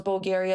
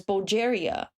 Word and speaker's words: Bulgaria: I had people who would pronounce Bulgaria as Bulgeria and I felt too ashamed